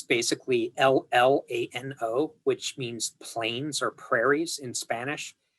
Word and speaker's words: Llano: Okay, that's how they pronounce it. There's a town in Texas called Llano. It's basically L-L-A-N-O, which means plains or prairies in Spanish. And if you go there, the locals pronounce it Llano.